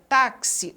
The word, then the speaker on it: táxi: Na palavra táxi, o X ele já tem um som ali que é pronunciado com uma quebra.